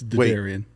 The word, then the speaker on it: Derderian: do I pronounce your last name because I butchered Jason PIAA I still butcher his last name so it's Daran damn it I was going to try and